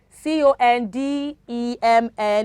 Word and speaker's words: condemn: it is what damn c-o-n-d-e-m-n is condemn condemn okay c-o-l-u-m-n is column